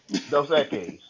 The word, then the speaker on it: Dos Equis: Dos Equis. Uh, That's the right way to pronounce it.